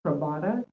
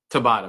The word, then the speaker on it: Tabata: sound of this so it's pronounced trata Tabata music sorry I said TR but Tabata music you probably said it